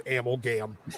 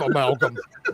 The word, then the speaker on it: amalgam: I I I I always I always used to pronounce it as Amlgam instead of amalgam just because I knew it was wrong.